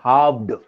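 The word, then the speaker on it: halved: अरे हाफ्ड बोलते भाई, हाफ को हाफ्ड, हाफ्ड इसमें तो एफ ही नहीं है सर, ये हार्ड हाफ्ड है. हाफ्ड बोलते हैं, हाफ नहीं, हाफ्ड, हाफ्ड एल साइलेंट होता है.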